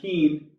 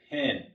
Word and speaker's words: pen: It's not peen, it's pen.